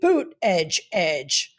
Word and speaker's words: Buttigieg: It's Pete Boot like a boot on your foot Edge Edge. Oh. So every time he always goes "Pete Boot Edge Edge."